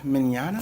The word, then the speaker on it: Mignogna: so let's start over and say that vic Mignogna boom yes Wow the hell up yet it's it's Italian so that it's spelled Italian like my GM Oh am i